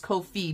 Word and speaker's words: Ko-fi: I guess it's Ko-Fi because it's supposed to rhyme with no fee.